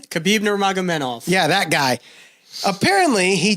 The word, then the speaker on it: Khabib Nurmagomedov: Khabib Nurmagomedov.